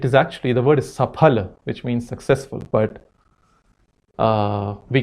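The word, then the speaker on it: सफल: can't pronounce it correctly, and it's Safal. And somehow we feel very polished about saying Safal. And if somebody says Safal, I don't know. Some people look down upon them, that this must be a rustic man saying Safal. Can't say Safal. No, it is Safal.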